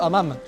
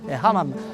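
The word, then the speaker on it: hammam: au Maroc, c'est les fameux hamam nonam parce qu'ici le H est bien prononcé hamam.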